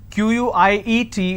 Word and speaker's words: quiet: to spell it um quiet means silence q-u-i-e-t is pronounced at quiet quite means q-u-i-t-e so